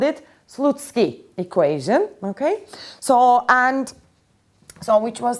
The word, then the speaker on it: Slutsky: So this is called the Slutsky equation. Apparently that's the correct pronunciation in Russian.